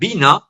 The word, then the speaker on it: Wiener: de la retroalimentación fue Norbert Wiener, o Norbert Wiener, si lo pronunciamos con su apellido de origen alemán, pero norteamericano, que es